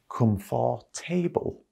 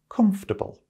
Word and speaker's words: comfortable: here it is now lots of people pronounce this word as come for table and that's certainly what it looks like isn't it but that is incorrect the correct way to pronounce this word is comfortable comfortable so basically it has three syllables again comf comfortable means